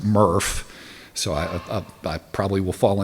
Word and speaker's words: MRF: which stands for Material Recovery Facility, and it's pronounced MRF, so I probably will fall into using MRF because I'm so used to it, so I'll try to be good about that.